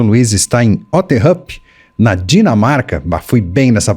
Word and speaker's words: Otterup: O Luiz está em Otterhup, na Dinamarca. Fui bem nessa pronúncia, hein, Luiz?